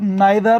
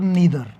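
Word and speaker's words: neither: वो आइदर होता है, और नाइदर को वो नाइदर और नीदर। हालांकि पहला जो उनका प्रोनाउंसिएशन है वो नाइदर है, फर्स्ट प्रायोरिटी उनकी नाइदर है, सेकंड प्रायोरिटी नीदर भी बोलने लगे हैं आजकल के यंग जनरेशन के लोग।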